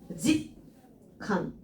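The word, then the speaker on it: 実感: 얘를 읽을 때 지츠라고 읽잖아요. 원래는 지츠라고 읽는데 지금 보면은 쯔로 끝나는 애가 카인가 만났기 때문에 바뀌었죠. 짓칸 이렇게 바뀌게 되고요.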